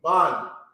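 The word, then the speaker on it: בן: And remember what I said, when they're connected, okay, two characters are connected, you take the sound, okay, and you drop the last sound off of that sound right there, okay? So you're going to have ban, okay?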